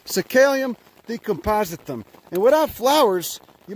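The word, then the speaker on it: Psacalium: This is Cicalium. It's spelled with a P, if that makes any sense. Cicalium decompositum.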